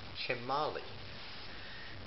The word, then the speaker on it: Chimalli: Okay, now, he is Chimalli. That's how that's pronounced, Chimalli. You spell Chimalli.